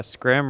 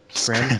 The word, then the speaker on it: Skyrim: like, what would you think is better, the Scrim or the Rage? Like, what do you think will be better? Skyrim?